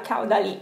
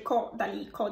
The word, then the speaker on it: Caudalie: di voi mi fa: no Franci, non si dice Caudalie ma si dice Caudalie.